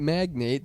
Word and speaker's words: magnate: A Texas real estate magnate. Does he just attract houses? What is going on? Are you pronouncing magnet wrong?